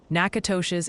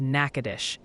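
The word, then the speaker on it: Natchitoches: Nakatosh's is Nakadish, and Opelousas is Opelousas.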